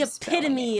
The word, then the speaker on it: epitome: out epitome it's the epitome of of of of art and culture the epitome yeah epitome yeah but but but it's not pity it's a p p